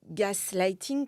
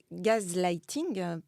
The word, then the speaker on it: gaslighting: de l'année 2022 d'ailleurs alors en anglais on dit gas lighting comme quelqu'un comme un un homme qui me mansplit mon mon mon livre me me l'a faire marquer récemment moi j'aime bien prononcer gaz lighting parce que gaz en en anglais on fait entendre le mot gaz et gaz en français fait entendre donc ce mot qui